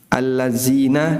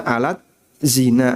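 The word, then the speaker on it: الذين: Alladzina dibaca alat zina amanu. Alladzina amanu dibaca alat zina amanu. Ya, transliterasi kan ngawur, Pak. Kadang ya orang keluarnya kalimatnya malah enggak karuan.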